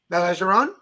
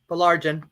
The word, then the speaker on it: Baillargeon: So I'm going to go ahead and start and say, Baillargeon. Baillargeon.